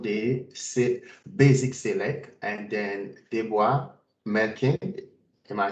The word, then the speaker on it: Deborah Melkin: Today's presentation is beyond the basic select, and then Deborah Melkin.